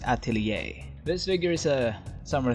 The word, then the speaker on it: Atelier: 2 by good smile company I think it's pronounced Atelier this figure is a summer theme so we